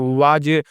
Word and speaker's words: was: WAS, क्या पढ़ना है वाज, वाज इसका प्रोनाउंसिएशन नहीं करना है, इसे पढ़ना लिखना वास नहीं है वाज पढ़ना लिखना है दोस्तों, ठीक ना, है ना।